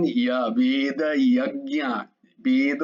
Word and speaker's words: यज्ञ: না বেদ যজ্ঞা, জয়ের উচ্চারণ ইয়া, ইয়া হবে, জ নয়। সবসময় মনে রাখবে জয়ের উচ্চারণ, কারণ এই জ চারিদিকে আছে, কারণ ইয়া বলার জন্যই। ইয়াটা যদি জ করো তাহলে যে লাভ পাওয়া দরকার সেটা পাবে না, এই জন্যই বলছি।